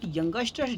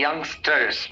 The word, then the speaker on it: youngsters: बट यंगस्टर्स don't know limits. Watching one video turns into 3 hours. अच्छा, यंगस्टर नहीं है, यंगस्टर्स. इसको अच्छे से प्रोनाउंस करें, यंगस्टर्स.